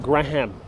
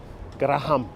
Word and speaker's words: Graham Avenue: intersecting with graham avenue of course they all be very proper people who are pronouncing gram but the real locals the new eurekans that lived here they call it graham graham it's also known as